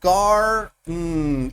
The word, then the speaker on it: garden: En inglés no. En inglés está el acento garden y la otra como que desaparece el sonido vocal.